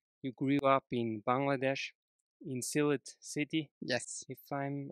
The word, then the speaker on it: Sylhet: And how nicely you have pronounced my native land, Sylhet.